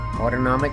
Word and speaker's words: autonomic: the autonomic nervous system autonomic rhymes with automatic I'm active all